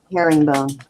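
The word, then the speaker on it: herringbone: is just a um hering bone is that how you say that how do you say that Herring bone Herring bone like the fish hairing all right so the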